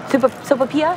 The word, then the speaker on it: sopapilla: Sopapilla?